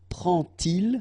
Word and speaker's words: prend-il: So prend-il, remember, D pronounced like T, and here prennent-elles.